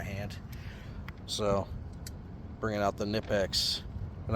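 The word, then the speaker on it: Knipex: So, bringing out the Nipex. And I know it's pronounced Kipex. Shut up. I'm American.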